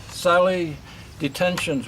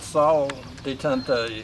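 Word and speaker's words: salle d'attente: They used to call this, or the French call it, Sally Detention's room, I think. I'm not good at French though, but this is how they spell it. I believe they really call it Salle Detente, so I think if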